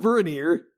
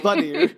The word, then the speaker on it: Vanir: Not Vernier, the Boehner. Vanir. Not veneer like a cap on a mouth, or maybe it is. I don't know. It's spelled differently.